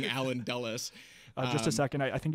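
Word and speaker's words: Allen Dulles: CIA because in my first video I was pronouncing it Allan DS instead of saying alen dullis just a second I think you have a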